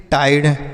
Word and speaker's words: tide: टाइड, TIDE, टाइड। T से ट, आई का उच्चारण आई, उसके बाद यहाँ पर D से डॉ हो गया, ई का उच्चारण नहीं करेंगे, टाइड हो गया।